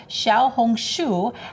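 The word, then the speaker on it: 小红书: It's called Red Note, or Xiaohongshu, as it is known in China.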